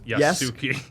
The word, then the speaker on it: Yasuke: Yasuke.